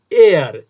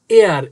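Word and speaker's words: heir: The king left an এয়ার, এখানে এইচ দিয়ে শুরু হয়েছে কিন্তু এই এইচ এর উচ্চারণ হবে না, এইচ সাইলেন্ট থাকবে। এটার উচ্চারণ দেখো এয়ার, এয়ার মানে উত্তরাধিকারী।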